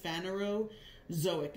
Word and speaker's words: Phanerozoic: The most recent 500 million years puts us in the Phanerozoic. That's pronounced Phanerozoic. Zo means animal, right? Phanero is basically like first, like primitive. Phanerozoic.